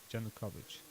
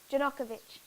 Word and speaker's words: Yanukovych: Yanukovych. Yanukovych. Yanukovych. Yanukovych. I will need to look that up. Hmm? I will need to look up how to spell that. J-A-N-U. J-N? J-A-N-U-K-O-V-I-C-H. Yanukovych.